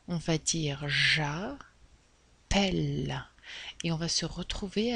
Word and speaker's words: j'appelle: Très bien, on va éliminer le ER, mais attention à la prononciation. On va dire j'appelle et on va se retrouver avec un autre L.